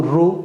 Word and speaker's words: ಋ: 10 ವರ್ಣಗಳನ್ನ ಕಳಿತಾನೆ ಇದು ಋ ಋ ಇದನ್ನ ಏನಂತ ಪ್ರೊನೌನ್ಸಿಯೇಷನ್ ಮಾಡಬೇಕಪ್ಪ ಅಂತಂದ್ರೆ ಉಲ್ಟಾ ಉ ಅಂತ ಓದಬಾರದು ಇದನ್ನ ಏನಂತ ಪ್ರೊನೌನ್ಸೇಷನ್ ಮಾಡಬೇಕಪ್ಪ ಅಂತಂದ್ರೆ ಋ ಅಂತ ಹೇಳಿ ಉಚ್ಚಾರಣೆ ಮಾಡಬೇಕು ಅದೇ ರೀತಿಯಾಗಿ ಇದನ್ನ ಏನಂತ